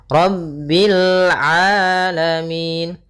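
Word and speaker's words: رَبِّ الْعَالَمِين: Rabbil rnya tebal ro tafkhim. Rabbil alamin. Hati-hati jangan sampai memantulkan lamnya dengan rabbil alamin.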